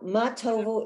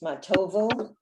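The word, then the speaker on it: מה טובו: Okay, so matovu, it's not matov, it's matovu.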